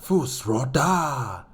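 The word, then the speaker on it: Fus Ro Dah: Yeah, Fusroda!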